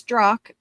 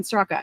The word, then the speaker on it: Straka: I do remember finding out the walk away guy, Brandon Stro, which by the way, it's Stro. It's not Straa. I get that all the time. Brandon Straa.